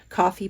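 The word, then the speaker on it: Ko-fi: So, make sure you go check out her Kofi page, coffee page, however you want to pronounce it, Ko- Fi.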